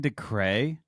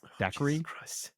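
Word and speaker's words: Dacre: I've been saying DeCray this whole time? I don't think that's how you pronounce his name. Dacry.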